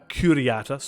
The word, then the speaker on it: Curiata: Now, we skipped over the beginning the Comitia Centuriata, Curiata, let's get that pronunciation correct, which is headed by the Pontifex Maximus and contains all the lictores curiati, or the lictors.